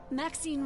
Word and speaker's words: Maxine: of most exquisite varieties maxine rhymes with queen that of course darling